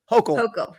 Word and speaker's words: Hochul: And it turns out that Holcomb, somebody pronounce that for me. Hochul.